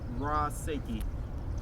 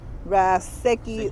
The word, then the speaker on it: Ra Sekhi: six years so uh raw seiki what does it mean or ashiki raseki or sheki you know it's tomato tomato depending on where you come from what tribe you're from that dictates how you pronounce words it's all good